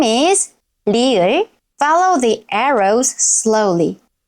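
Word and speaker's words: 리을: At the beginning of a syllable, it sounds somewhere between R and L. ri-eul can sound a little like R or L, but it is not exactly the same as either one.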